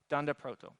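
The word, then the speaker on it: __proto__: underscore Proto underscore underscore so the the the python world has a lot of these double underscore variables and they call it thunder Proto so that comes from double underscore so that's a good way of pronouncing it and Brandon Ike seems to like it so it'll be it'll become popular for JavaScript Dand Proto um what this special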